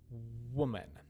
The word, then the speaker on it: woman: have white and then woman woman woman you can really feel when you get the sound where you can feel your lips kind of buzzing making uh they're kind